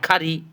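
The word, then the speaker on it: curry: এবার দেখেন সি এর পরে যদি ইউ হয়, সেই ক্ষেত্রে আমরা সির উচ্চারণ ক করব, সি ইউটি, কাট, সি ইউ ডাবল আর ওয়াই, খারি।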